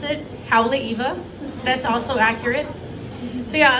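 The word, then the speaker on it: Haleʻiwa: But yeah, so like I said a little bit ago, I'm from North Shore, or as you might pronounce it, Haleiwa.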